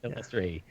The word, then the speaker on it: Illustrae: So I know it's like illustration. It is. That's how I try to remember it. It's like illustration, Illustrae.